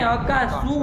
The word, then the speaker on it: अक्कासु: हे अक्काशु नहीं, अक्कासु। अक्कासु। धरती से आपको नहीं समझ में आता है कि गलत सकार का उच्चारण हुआ, हाँ।